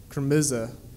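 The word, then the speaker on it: kırmızı: red for red wine is pronounced with a hard k and muted vowels chromisa not unlike crimson the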